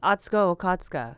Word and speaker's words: Atsuko Okatsuka: We are here with the amazing comedian, host, podcaster, the woman extraordinaire, Atsuko Okatsuka. Did I say it right? Yes, Atsuko Okatsuka. Yeah. Atsuko Okatsuka.